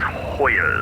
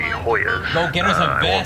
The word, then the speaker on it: Hoya: It's Hoya as in Georgetown University. Hoya.